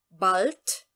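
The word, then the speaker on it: bald: em relação à pronúncia o de nós vamos pronunciar com o som de t2 que eu escrevi aqui barth barth parte certo então como aqui ainda ao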